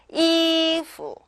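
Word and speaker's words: 衣服: 이후 이후 이렇게 읽으시면 되시고요. 후 소리가 안 나는 게 아니죠. 가볍게 나는 거예요.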